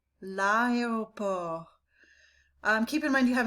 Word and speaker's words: l'aéroport: L'aéroport. L'aéroport.